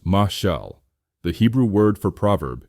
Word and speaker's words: mashal: Finally, we discover mashal, pronounced mashal, the Hebrew word for proverb itself.